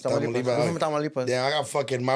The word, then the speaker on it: Tamaulipas: Tamaulipas. Tamaulipas.